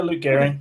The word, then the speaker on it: Luke Gearing: Luke Garing. Yeah, it's it's Yeah, it's it is exactly how you'd expect.